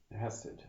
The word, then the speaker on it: Chesed: Hesed, C-H-E-S-E-D, Hesed. I've seen it spelled without the C as well.